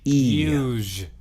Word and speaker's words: uzhe: Uge. Yeah, I guess I'd probably pronounce that uge.